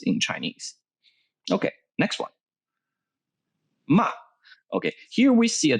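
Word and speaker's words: 骂: forth they're cursing each other and lower part mark gives the pronunciation if it is pronounced ma ma meaning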